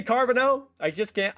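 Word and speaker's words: Carbonneau: I can say Carbono. I just can't I can say it that way, but why not say it the French way? Carabano, I love me some carabano.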